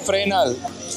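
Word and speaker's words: Fresnel: very good it's actually phrenal so you've got it right the S is silent okay but it's good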